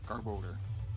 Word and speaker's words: Garbodor: Garbodor.